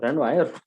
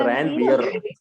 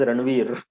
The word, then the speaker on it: Ranvier: Ranwire. हाँ, Ranvier. It is called Ranvier. Many of my students have pronounced it as Ranveer.